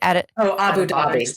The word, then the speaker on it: Abu Dhabi: Abu Dhabi.